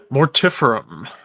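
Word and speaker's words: Mortiferum: Mortifum. I still can't believe that's how they pronounce that. It should be mortifam. That sounds way more sinister, but that's whatever.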